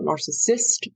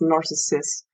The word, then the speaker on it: Narcissus: i SS u s it is not narcissist like the disorder or the person it is narcissist like the Greek youth um in the myth